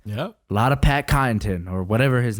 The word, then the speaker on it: Connaughton: A lot of Pat Connaughton or whatever his name is. Deep. What is his name? Connaughton. Yeah, it's Connaughton. But it's got a G in it. Connaughton. The W is silent.